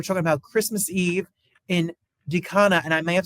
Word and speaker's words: Dikanka: It's a DIKANKA.